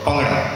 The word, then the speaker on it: Bhangra: It's called Bhangra. Or Bhangra is the correct pronunciation, B-H-A-N-G-R-A.